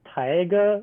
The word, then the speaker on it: Taiga: intimate Blitz it's blue it's Taiga like Tai yeah tiger all right yeah it's just Tyga at lindenmaki yeah all right it is not Tyga it is not an